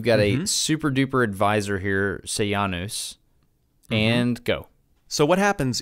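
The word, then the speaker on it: Sejanus: while the most powerful person spell his name say Janos se J a and us say ah news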